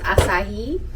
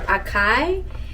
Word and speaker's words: acai: got i don't know if this word is pronounced asahi or akai but it's it's it's acai berry or acai berry i don't know but